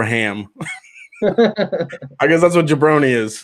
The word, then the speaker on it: jabroni: Jabroni rhymes with baloney.